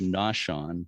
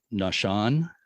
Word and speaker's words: Naushon: And again, I've always thought it was pronounced Naushon, but I've been corrected by you and somebody else with the Cuttyhunk Historical Society, and told it's Nashan. Is that a better pronunciation?